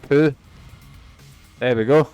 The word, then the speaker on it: Pugh: It's pronounced Pooh.